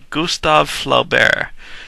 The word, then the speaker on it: Gustave Flaubert: I never pronounce this guy's name right. Gustave Flaubert.